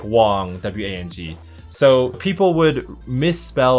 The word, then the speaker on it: Huang: with a W, because very rarely in English do you have like an H-U-A and have it pronounced like Hua, you know? So it sounds like Wong, W-A-N-G.